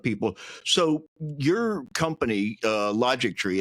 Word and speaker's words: Logictry: logic TR um but we pronounce it logic tree like history or chemistry is because we as